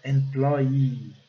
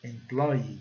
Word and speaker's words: employee: A pronúncia, né, clássica, employee, seria quase que duas sílabas tônicas, né? Employee, duas sílabas fortes.